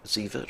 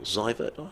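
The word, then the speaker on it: Seifert: philippine mohammed rizwan and tim sievert or ziva i haven't actually spoken to him to get his actual pronunciation right so what should we go with seaford okay s-e-i-f-e-r-t so he's coming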